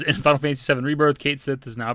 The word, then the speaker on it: Cait Sith: And then in the picture it says, "In Final Fantasy VII Rebirth, Cait Sith is now pronounced Cait Sith."